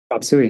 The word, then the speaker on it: Chop Suey: Is that how you pronounce it? Chop Suey, that's right.